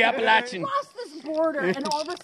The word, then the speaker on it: Appalachian: The Appalachian Trail versus the Appalachian. Appalachian. I call it the Appalachian.